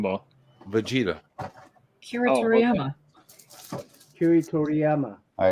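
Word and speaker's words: Akira Toriyama: Kiri Toriyama.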